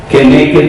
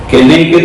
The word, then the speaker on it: Keneged: Si quieres anotar, Midá Keneged Midá en hebreo, M-I-D-A, Midá, lleva tilde en A. Keneged, K-E-N-E-G-U-E-D, K-E-N-E-G-U-E-D, tilde en la segunda E, Keneged, Midá, Midá, Keneged, Midá, medida por medida.